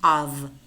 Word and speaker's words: of: And here we have the preposition of, which I've explained before, is pronounced v, of, like a cup of coffee or a pound of sugar.